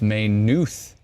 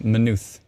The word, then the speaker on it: Maynooth: thank you kyle and it's maynooth not minuth you're driving everyone in